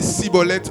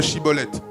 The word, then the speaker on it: Chiboleth: Et il disait Chiboleth, il disait Siboleth au lieu de Chiboleth, car il ne pouvait pas bien prononcer.